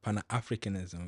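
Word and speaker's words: Pan-Africanism: lost Pana africanis Spirit pan africanism Pana africanism right is how you say what's the who introduced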